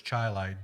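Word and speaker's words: Chili: and you see a a sign that says chai like don't blink you'll miss it yes you'll miss it everybody constantly will pronounce it Chile Indiana and it's chai Li even though it's spelled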